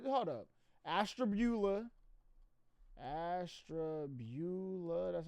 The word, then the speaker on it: Ashtabula: We're going to Ashtabula, Nick.